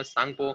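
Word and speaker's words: Tsangpo: और फिर उसके मतलब 3 नाम है, 3 नाम याद रखना, सांगपो, टी साइलेंट करना है, जैसे पढ़ना होगा पढ़ो, ठीक है।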